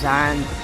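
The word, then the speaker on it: Xian: can't say his name i think he's zan his x-i-a-n he's a gun player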